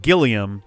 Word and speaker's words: Gilliam: Gilliam. That could be fun. Because this is usually Jillian. Yeah. It's weird how we've got Gilliam, hard G, Jillian, soft G.